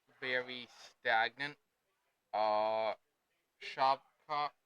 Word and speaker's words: Shavkat: Uh, Shavkat is that how it's pronounced? Shovkat, yep.